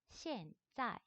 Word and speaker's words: 现在: 자, I랑 N이랑 사이에 오는 A 같은 경우에는 아 발음이 아니고 우리가 에 발음으로 읽어주시면 될 것 같아요.